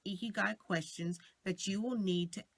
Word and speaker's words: Ikigai: So what is an Ikigai? First, let me go ahead and spell it for you. It's spelled Ikigai, and it's pronounced eek, like you've seen a mouse versus ick, okay?